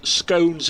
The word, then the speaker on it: scone: Scones is pronounced like stones and it's jam on top and I live in Cornwall.